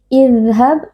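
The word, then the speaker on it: اذهب: Idhab, huruf dzal bersifat rokhawah, beri sedikit aliran suara. Idhab, hab, qalqalah sughra karena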